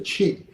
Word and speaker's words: qi: It's spelled QI, but it's pronounced chi, and it's something in the air.